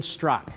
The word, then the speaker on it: Straka: Liberty and Levin Brandon struck how are you my friend great to be here it's spelled Straka but it's struck is that correct you nailed it so